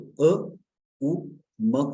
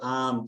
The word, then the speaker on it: ओम: और जब हम ओम का उच्चारण करते हैं तो अ उ म को अलग करके भी उच्चारण कर सकते हैं, या ओ ऐसे भी उच्चारण कर सकते हैं। अब यहाँ पर अगर आप साउथ में आ जाएंगे तो एक साउथ के बहुत बड़े स्पिरिचुअल मास्टर है, वो ओम को ओम नहीं कहते, वो आम कहते हैं।